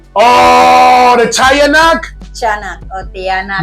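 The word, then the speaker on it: tiyanak: the tanak chak oh tanak the chanak but it's spelled like tanak t i y a n a k right CH now this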